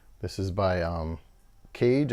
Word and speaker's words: CAIG: This is by Caig, I believe it's pronounced C-A-I-G.